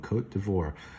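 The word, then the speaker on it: Côte d'Ivoire: here's this interesting name cote de voir like a french name and this little carrot i thought it would be all fancy but it sounds like a long o cote d'ivoire so i think of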